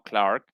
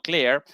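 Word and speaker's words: Klare: Y según Michael Claire, esa es la pronunciación probablemente correcta, no Clark, sino Claire.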